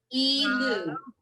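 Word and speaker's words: אלו: The first word in all 3 is E, so the aleph is silent, but it picks up the E sound. Elu.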